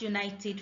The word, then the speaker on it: united: It is because united begins with a consonant sound Y.